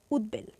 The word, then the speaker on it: উদ্বেল: এখানে উৎ উপসর্গ আছে উৎ উপসর্গ থাকলে ব এর উচ্চারণ বজায় থাকে সেক্ষেত্রে আমরা এটি উচ্চারণ করব উদ্বেল ঠিক আছে তো শিক্ষার্থীরা